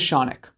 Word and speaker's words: Shaunic: My name is Shaunic, rhymes with Sonic.